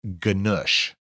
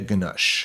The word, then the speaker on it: Ganush: Ganush. Because I'm sure is it Sylvia Ganush? Sylvia Ganush.